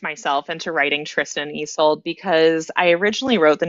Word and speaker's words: Isolde: Oh, Isolde.